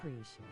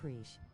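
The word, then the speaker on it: Prishe: Preesh. I think it's pronounced Preesh. Watch Twitch Lady butcher it. I think it's pronounced Prish.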